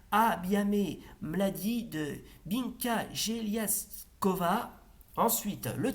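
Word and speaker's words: Бяхме млади: étions jeunes, et en bulgare traditionnel, ça se prononce Abiame Mladi de Binka Geliaskova.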